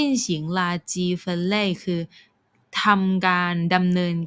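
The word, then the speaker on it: 垃圾: การ จุด ๆ ๆ ลาจี นะ แปล ว่า ขยะ ทาง ไต้หวัน เนี่ย เขา จะ ออก เสียง คำ นี้ ว่า เล่อ เซ่อ นะ คะ เล่อ เซ่อ แล้ว ก็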